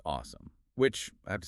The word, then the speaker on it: OSEMN: And according to our sources, it is spelled o mn, but officially pronounced awesome, which I have to say is brilliant branding for a data science methodology.